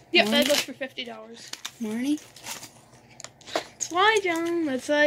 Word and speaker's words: Marnie: So we got this Marine? Are you sure about that? Marin? Marin? It's Marine. No, it's not. Marine. What is it? How do you spell the first syllable? Marnie.